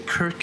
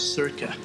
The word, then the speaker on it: circa: say february how embarrassing i know someone who used to say kirk instead of circa i believe he's since